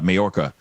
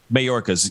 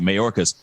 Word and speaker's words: Mayorkas: see the press briefing with uh majorca um hopefully i'm pronouncing his last name but anyway uh right marcus mayorkas yes thank you mayorkas so he's talking about